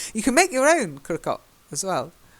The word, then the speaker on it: croquant: Croquant. Croquant. Croquant. That's it, perfect. Yay. But if you go to Nottingham, where I was raised, people will call it crocant.